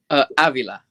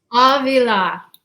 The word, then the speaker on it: Avila: Avila. Avila.